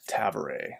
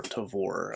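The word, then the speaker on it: Tavore: Next up, I want to talk about Adjunct Tavare, or Tavor. I think the audiobook pronounces it Tavare, so if I say Tavare, that's why. A lot of people say Tavor.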